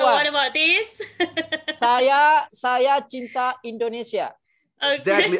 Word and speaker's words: cinta: Saya cinta Indonesia. Okay. Exactly. I mentioned that C in Indonesian means CH. It's not C. So saya cinta Indonesia.